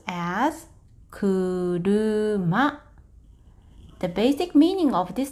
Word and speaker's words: 車: This is pronounced as sha. For kunyomi, you can pronounce as kuruma.